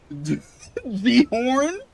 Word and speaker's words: Ghorn: Ghorn. Well, actually, you got that right then. Proud of you. No, I put emphasis on G. I separated G from your name.